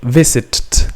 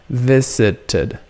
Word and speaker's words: visited: So you leave the and what happens, the way you pronounce it is So you leave the E, but you pronounce visited, visited, visited, visited.